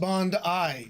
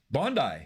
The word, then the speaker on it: Bondi: It's pronounced Bondi, just like you were right. Bondi. It is Bondi. Like Bond with an E-Y-E.